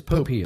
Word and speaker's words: Popeil: Oh, or Popeil or Popeil? It's Popeil. Popeil, okay.